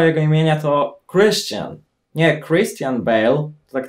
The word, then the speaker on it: Christian: Właśnie poprawna wymowa jego imienia to Christian. Nie Christian Bale, to tak trochę po polsku brzmi. W Ameryce mówią Christian.